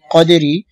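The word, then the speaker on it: قدر: কফ দাল জবর কদে, এখানে কলকলা করতে হবে, রাজির রি, কদেরি, অফের সময় র সাকিন হয়ে যাবে এবং উচ্চারণ হবে কদ্র, কদ্র, দালও থাকবে, রাও থাকবে। ওয়ামা আদরাকা মা লাইলাতুল কদ্র।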